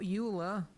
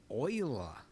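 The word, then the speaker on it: Euler: Uh we need to add shift a utilities rotation rotate, not uler, oiler. Yes, I know they went with the weird pronunciation. I think it was a Frenchman, right?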